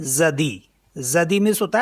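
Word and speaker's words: jeudi: जी अ य दे ई इसे पढ़ते हैं जदी जदी मीस होता है थर्सडे जदी कम्स फ्रॉम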